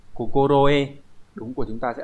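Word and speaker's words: 心得: Vậy thì trong trường hợp này cái chữ này nó sẽ đọc như thế nào? À, nó sẽ đọc là kokoroe.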